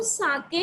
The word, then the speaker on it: sake: ठीक है, तो साके a popular Japanese drink. Sa is pronounced like fa in father and k in rhymes way.